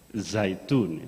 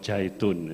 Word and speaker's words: Zaitun: Actually, if I try to pronounce by Arabic zaitun, yes, not jaitun, yeah.